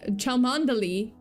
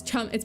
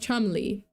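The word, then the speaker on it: Cholmondeley: And apparently I I just found it out but um but yeah apparently chandeli is not chandeli it's chum it's pronounced chumi make it don't make it not make sense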